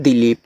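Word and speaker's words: Dileep: देखो डी आई L double E पी तो इसको पढ़ते हैं दिलीप।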